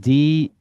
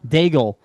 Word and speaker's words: Daigle: Daigle. Bagel. Daigle.